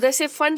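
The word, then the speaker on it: Pfund: कि P यहाँ पे साइलेंट होता है, इसको फंड सीरीज बोला जाता है।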